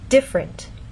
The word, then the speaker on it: different: here the word different in very slow careful speech and especially formal speech you might get this pronunciation diff rent but often in fast speech you lose that middle sound and you get different so again how do